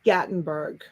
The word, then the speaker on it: Gatlinburg: Gatlinburg? Gatlinburg, yes. It's Gatlinburg.